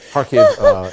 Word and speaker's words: Kharkiv: Kharkiv is how she is pronouncing it there.